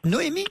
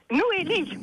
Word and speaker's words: Noélie: Noémie. Et donc, Noélie. Noélie avec un L.